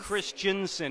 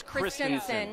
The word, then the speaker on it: Christensen: It's not Christensen, it's Christensen.